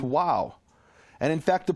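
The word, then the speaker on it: واو: they would speak Arabic Arabic doesn't have a v sound but when and it has that letter the letter VAV exists in Arabic and it's pronounced wow and in fact the pronunciation of wow comes from Arabic I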